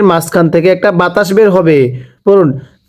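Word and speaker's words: ه: এই হাটা উচ্চারণের সময় কিন্তু আবার গলার মাঝখান থেকে আওয়াজ করে পড়তে হবে।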